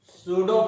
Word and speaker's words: pseudo: तो देखिए, सूडो force, ठीक ना, पी साइलेंट रहता है।